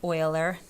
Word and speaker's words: Euler: about the number E it's known as Euler's number that's how you pronounce Euler some famous mathematician don't